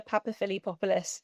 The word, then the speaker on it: Papaphilippopoulos: hopefully you'll uh do me the honor of pronouncing for me. Sure. So, my name is Papaphilippopoulos.